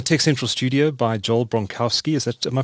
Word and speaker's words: Bronkowski: Central Studio by Joel bronowski is that am I pronouncing your name correctly Joel yeah yeah I've since learned it's bronovsky but I go by bronovsky bronovsky I suppose it